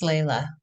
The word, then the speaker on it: Lila: Remind me how to pronounce it. I always get it wrong. My Hispanic wants to come out and I get confused. You always pronounce it correctly. It's Layla.